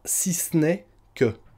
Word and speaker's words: si ce n'est que: Et j'insiste, on le prononcera: si c'n'est que. Si c'n'est que. C'est bizarre mais c'est comme ça.